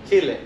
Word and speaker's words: Chile: skyline lounge and i'm from chile that's the right way to say it everyone not chilly like people are from